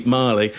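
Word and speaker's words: Magli: Either that he thinks it's pronounced Magley, which you're right, Scott. People would have said, you're getting it wrong, mate. You got to look cool. It's actually Marley.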